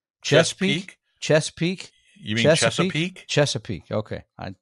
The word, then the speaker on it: Chesapeake: one more from sean who writes us from chess peak chesapeake chesapeake chesapeake chesapeake okay i thank you for